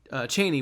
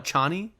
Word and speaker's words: Chani: in his tent with Cheney, which they don't call her Cheney, they call her Chani. It's Cheney. Yeah, in the movie it is pronounced Chani.